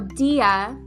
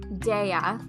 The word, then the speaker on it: Dea: the book um but so dia d-e-a or daia i don't really know how it's pronounced in latin but it's it's the latin word for goddess and i i i